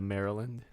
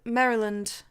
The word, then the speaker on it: Maryland: that what it's called well no cuz you say it like Mary you said it's adorable but because it's named after Queen Mary right Henrietta Maria you say it like um I'm sorry you say it like Mary is and Merry Christmas no that's how you